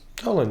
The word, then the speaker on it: Tallinn: Did I pronounce correctly? Tallinn. Tallinn, yes.